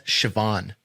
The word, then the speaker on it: Siobhan: That's Siobhan.